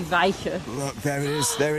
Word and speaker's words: Wijchen: around it oh well the sort of modern pronunciation would be vika look there it is